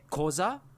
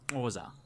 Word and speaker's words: Xhosa: with an x-h-o-s-a so usually that's combined with the clicking like some people would say koza but i've heard it pronounced as wasa it sounds so awesome